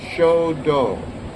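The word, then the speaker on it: shodo: is the same word in Japanese it's show do s h o d o do is the da so it means the way the road so it's the the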